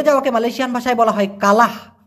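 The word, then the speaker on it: kalah: না মূলত হেরে যাওয়াকে মালয়েশিয়ান ভাষায় বলা হয় কালাহ কা লাহ একটা হঙ্গালাহ মানে হচ্ছে হার মানা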